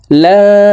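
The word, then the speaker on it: لَا: আল্লাহুম্মা আনতা রাব্বি লা ইলাহা ইল্লা আনতা। লা এখানে 4 আলিফ টান, মদর হরফের উপরে মোটা চিহ্ন, বামে হামজা, মধ্যে মুত্তাসিল 4 আলিফ টানিয়া পড়িতে হয়।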